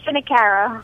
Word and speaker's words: Finocchiaro: Am I saying that correctly? No, but it's close. I'll accept it. It's Finocchiaro. Finocchiaro. I got to make that a hard C.